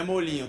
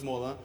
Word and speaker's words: Molinho: por causa da pronúncia, algumas pessoas falam Molinho, outras Molan, mas no caso da doutora Betina, ela falou que sim, é Molinho.